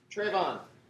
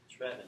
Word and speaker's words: Trevin: Trayvon. It's Trevin, but Trevin.